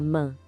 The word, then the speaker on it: main: Mas não se esqueça que o S no final é mudo, tá? A gente não fala ele. Agora a mão. La main.